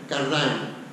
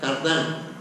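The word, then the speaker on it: Cardijn: voy a pronunciar como yo creo que se pronuncia, Cardin. Lo que pasa es que todo el mundo la pronuncia la francesa, Cardin, pero no es francés, no es valón, es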